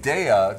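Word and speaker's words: Daiya: products out there and daya just to think of dairy da dairy that's how it's pronounced daya cheese and they've got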